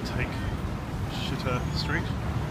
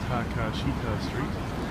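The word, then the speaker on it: Takeshita: a chocolate chip party what English would call uh take street but it's probably correctly pronounced as taka Street which is really popular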